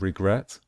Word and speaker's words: regret: It's the same with regret. With regret, we stress the last syllable, the final syllable.